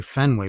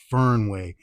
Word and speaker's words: Fernway: This is a 510 style vape cart with some oils from the I want to say it correctly. I want to say Fenway, but it's Fernway being I got the Red Sox hat.